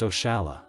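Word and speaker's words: oxalá: Portuguese language for example the expression oxela which is pronounced oala this expression comes from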